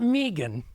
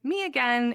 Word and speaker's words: Meagan: somebody to be like, "Your name is spelled kind of like me again. It's me again." Like when you show up at a party, you should just say, "It's me again." Like, how did no one ever think to call me that? Because that's really phonetically what it what it looks like.